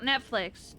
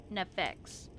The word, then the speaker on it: Nefex: Not Netflix. Nefex.